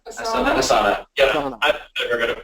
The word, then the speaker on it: Asana: Some people just like to use a spreadsheet, others want to use Trello, others want to use, is it Answer? Is it Answer? Asana.